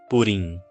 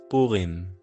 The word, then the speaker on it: Purim: Aqui em Israel, nós não falamos Purim, nós falamos Purim.